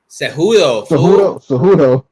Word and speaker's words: Cejudo: Aljamain or Cejudo? Man, I don't know. That's a tough one, dude. That's a tough one. Probably Kajudo though. I mean, I've watched more Kajudo fights, to be honest.